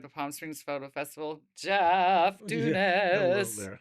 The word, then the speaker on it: Dunas: Jeff Dunas.